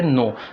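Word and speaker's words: know: तो सभी अल्फाज के से शुरू हो रहे हैं, लेकिन एक लफ्ज़ इसमें ऐसा है जिसकी आवाज़ के की साइलेंट है और वो लफ्ज़ है नो।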